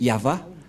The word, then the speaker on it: Yahvah: au milieu y c'est l'alphabet hébreu qui est prononcé yava et dans Genèse 2133 ou bchit on voit